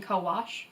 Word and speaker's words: Co-Wash: Now, the one that I'm currently using is Shea Solutions Deep Conditioner and Co-Wash, or CO Wash, depending on how you want to pronounce it.